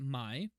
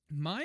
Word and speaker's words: Mai: I guess it could be pronounced either way. I'm going to pronounce it Mai. Mai is in charge of